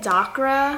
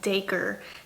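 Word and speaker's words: Dacre: at War right now and I kept saying dacra I did not know how to pronounce it and it's actually daker it's spelled d a c r e but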